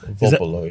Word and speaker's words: Volpolo: Volpolo, yeah. Volpolo is how you say Volpolo.